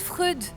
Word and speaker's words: Freud: Ça se prononce Freud.